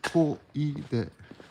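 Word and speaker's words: 小出: So that kanji means, well, you pronounce it ko-i-de. The first kanji is ko, which means small. And the second kanji there is out, or deru, but pronounced together in that combination, especially, it's koide. And on this block alone,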